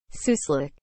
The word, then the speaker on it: suslik: what is the meaning of the word soo slick as a noun rather large central eurasian ground squirrel soo slick is spelled s u s l i k slick